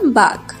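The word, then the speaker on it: 박: এর কোরিয়ার উচ্চারণ বাঘ।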